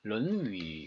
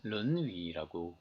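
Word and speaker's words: 論語: 그러니까 사실은 조금 발음이 달라지죠. 논어가 됩니다. 런위, 그렇죠? 런위. 현재 주류적으로는 이 반고와 이 성명의 관점, 황간의 관점들을 주로 우리가 채택하고 있습니다. 그래서 런위라고 읽죠.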